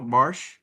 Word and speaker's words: Barsh: Am I pronouncing that right, Barsh?